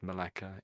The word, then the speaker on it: Malacca: That's like how it said Malaca Indonesia.